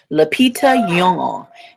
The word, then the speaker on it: Lupita Nyong'o: Laita yong. And that's how she pronounced it.